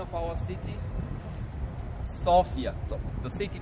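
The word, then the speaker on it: София: 1925 locals pronounce the name of our city sopia so the city name we pronounce sopia the lady Sophia because the city of sopia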